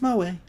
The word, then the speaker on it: moe: Pronounced moe. That's moe.